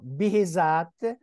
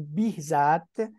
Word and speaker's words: Behzad: Donc, une école très importante, une école qui est représentée par Behzat ou Behzat ou Bihzat. Oui, Voilà, il y a une prononciation oui, diverse.